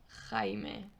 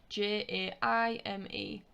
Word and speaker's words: Jaime: i if you remember it's that throaty h sound the sound now the